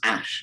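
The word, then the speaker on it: Æ: now the a the ae is pronounced asha so their child's name is x asher12 is that pronounced ash sorry so it's ash 12 x asher 12.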